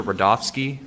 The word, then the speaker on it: Rudofski: sled special agent rodofsky that's r-u-d-o-f-s-k-i and it's pronounced Rudolph and then ski how you doing